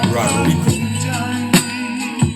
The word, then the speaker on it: Rodrigo: Rodrigo. You gotta roll your R's.